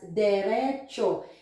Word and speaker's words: diretso: We spell it like this, diretso, but actually we pronounce it as derecho. It's like the T and S are pronounced as C and H, so cho.